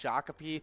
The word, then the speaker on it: Shakopee: Yeah, and I'd like to say sorry for Shakopee for always saying your name wrong. It's Shakopee, and that's the hard to pronounce Minnesota name of today.